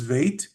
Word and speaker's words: Beit: So when you read, depending on what your community prefers, you will hear people pronounce Beit as Veit, but you will hear them pronounce Gimel as Gimel the same, with or without Dagesh.